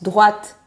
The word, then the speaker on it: droite: On a un T-E à la fin et le E provoque le T. Donc on le prononce droite.